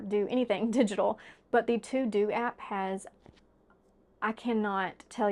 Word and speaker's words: TeuxDeux: If you're someone that gets overwhelmed by that, I highly recommend the To Do app. It's spelled TEUXDEUX app.